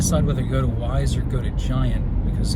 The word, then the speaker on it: Weis: I think it's spelled W-E-I-S, and I didn't know how to say it, but I've heard a lot of people call it Wise, so I think that's how it's pronounced.